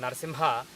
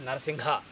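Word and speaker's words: नरसिंह: If you have, for example, Narsimha, some people pronounce it as Narsingha. That is because they are not dropping ga. So the correct pronunciation is almost like singha, except that you should drop the ga.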